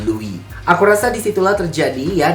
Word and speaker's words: Louis: Seperti tadi, Louis itu tidak disebutkan S-nya ya, jadi tidak Louis, tapi menjadi Louis.